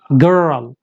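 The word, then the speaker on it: girl: तो यहाँ पे गर, गर को आप बोलेंगे गर, जबान को पीछे ले जाएं आर साउंड प्रोनाउंस करने के लिए, गर। उसके बाद रल, आप इसको ऐसे समझे, दो साउंड, गर रल, गर्ल। तो अमेरिकन इसको कैसे प्रोनाउंस करते हैं, गर्ल गर्ल गर्ल।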